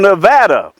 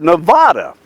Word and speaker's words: Nevada: when I moved there, I called it Nevada. And everybody said, no, it's not Nevada, it's Nevada. I said, that's kind of ugly sounding. They said, we don't care. That's the way we pronounce the state.